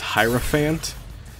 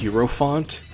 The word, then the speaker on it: hierophant: Persona 3 episode is the way that I pronounced hierophant is I pronounced it as herant and in my defense when